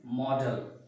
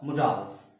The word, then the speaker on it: modal: There are two pronunciation of this particular word, modal and model. So you can pronounce with both the types, models or modals.